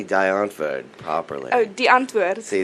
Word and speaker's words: Die Antwoord: How do you say Die Antwoord properly?